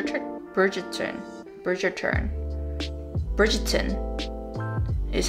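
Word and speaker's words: Bridgerton: bridget turn bridger trick bridget turn bridger turn bridgeton is how they pronounce it in the show my parents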